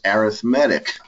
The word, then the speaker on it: arithmetic: You do not get graded on your pronunciation in this class, but that word that looks like arithmetic is actually an adjective, pronounced arithmetic combinations of functions, as opposed to combinations